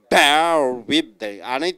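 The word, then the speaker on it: bear with: பேருக்கு பி எப்படி உச்சரிக்கணும்? பேர் வித். அனைவருடைய உச்சரிப்பும் சரியில்லையே, பின்னு வரும்போதே பேர் வித் என்று சொல்ல வேண்டும்.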